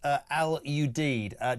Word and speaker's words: Al Udeid: The airbase in Qatar is pronounced Al Udeid.